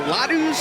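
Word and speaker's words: laddu: The ladus?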